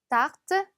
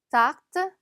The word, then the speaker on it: tarte: tarte, tarte. 마치 여기는 R가 기역처럼 발음이 나네요. tarte라고 안 나고 tarte라고 발음이 납니다.